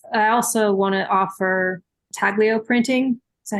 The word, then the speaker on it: intaglio: I like the idea of having prints to sell, but I also want to offer intaglio printing. Is that how you say it? Intaglio? How do they say it? Intaglio.